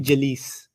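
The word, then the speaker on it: جليس: sitting on this chair you would call me jaa alice like rhyming with ra him if i just sat here all the time i'd be jalees that's not jalis that's jalis it's an always thing okay so the fact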